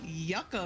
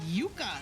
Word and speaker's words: Yucca: family's native country and everyone pronounces it wrong. Uh, they say Yaka Valley, but it's Yuka. It's the the root Yuka.